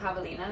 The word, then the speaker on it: javelinas: how to say it no again javelinas i looked it up javelinas yeah okay well never mind we do know how to say that one my brother johnny was